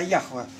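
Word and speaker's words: Яхве: 7500 раз в Библии слово Иегова в оригинале. Только оно не так считается, а Яхва, как Феофан Затворник это показывает.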